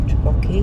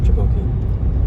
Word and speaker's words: trabocchi: Do you know how they say it in Italian? Go on. Trabocchi. Oh, that's good. Trabocchi, Trabocchi.